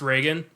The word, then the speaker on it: Regan: And Regan, it's spelled Regan. It's pronounced Reagan.